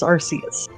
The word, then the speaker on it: Arceus: pronunciation, Cameron, Yes. I re-looked up the Arceus thing. You were right. It is Arceus.